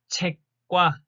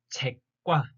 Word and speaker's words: 책과: Pay attention to the sound that it's pronounced like a double kiok, double consonant. 책과, 책과, book and pencil.